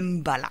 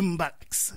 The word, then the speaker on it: mbalax: Le Mbala. Le Mbalax, voilà. Ah oui, on prononce le X? Je croyais que... oui, mais certains prononcent. Mais moi, j'ai toujours prononcé. OK. Mais d'autres ne le prononcent certainement pas.